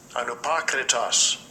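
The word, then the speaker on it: ἀνυπόκριτος: So for the word unfeigned, I'm gonna let Esau pronounce this, because I'll mess it all up. Strong's G 505, anupakritos.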